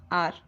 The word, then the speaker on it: hour: आई am going out फॉर एन आवर, आवर नहीं आर, okay. H silent होता है, आर मतलब होता है घंटा, ओके।